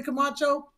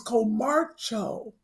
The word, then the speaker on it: Camacho: And did you notice Melanie Camacho is not, her name is not Melanie Camacho? She said it's her name, it's Comarcho or something. I never knew that. We've been saying it wrong all these years. I've been saying it wrong for the last 22 years. I've been saying Camacho. I didn't know it was Comarcho.